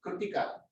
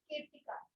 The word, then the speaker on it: Kirtika: Pronounce it once again. Kritika. Kirtika. Yeah.